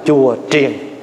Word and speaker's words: chùa triền: Đúng chữ phải đọc là chùa triền.